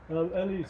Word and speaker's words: Eli: I said, should I pronounce it Eli or Ellie? He said either.